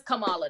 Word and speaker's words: Kamala: new VP Camala Harris am I say her name right is it Kamala or I don't know if I said it right it's Kamala Camala sound better her name is is Kamala now Cala C I like